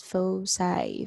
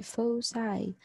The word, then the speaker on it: foci: look for the foci it's pronounced as foci foci yep case one the formula